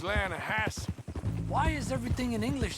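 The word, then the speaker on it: Lannahechee: The the Lanahhatche. It runs right near here. Yeah, but it's pronounced Lanahassee.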